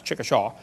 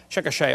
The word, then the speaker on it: Chickasha: it 2005 textbook and I pronounced it wrong as Chickasha nots Chickasaw Chickasha Oklahoma I got corrected during the